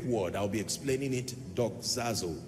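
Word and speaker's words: δοξάζω: teaching tonight on a subject that I title do zazo I want to teach you how the Saints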